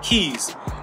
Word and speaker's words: cay: and they're actually called keys it's funny because they spell it a little bit differently but the pronunciation what i heard from uh somebody that lives there is actually key like k e y but it's spelled c